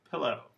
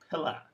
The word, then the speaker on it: pillow: with the second word pillow pillow the word stress is on the first syllable so again according to the rule i taught you the last class this should be pilla but it doesn't happen the schwa does not appear in these words